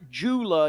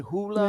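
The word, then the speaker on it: JOOLA: tournament the and and it's not Jula you say the Jay is silent Dean hoola yeah it's hula yeah yeah the hoola table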